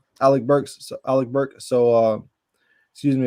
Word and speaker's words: Alec Burks: Alex Burks. Alex Burks. Yep, Alec Burks.